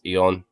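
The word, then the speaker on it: Eoin: The author of the series is named Eon Colfer. Oh, so like some Irish guy, I think. But yeah, that's no Eon is an Irish name, and it's basically similar to Ian. It's Eon.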